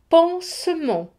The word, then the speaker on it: pansement: Un pansement. Ici, le S est entre une consonne, le N, et une voyelle, le E. Donc, se prononcera S.